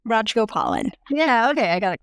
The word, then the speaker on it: Rajagopalan: Rajagopalan.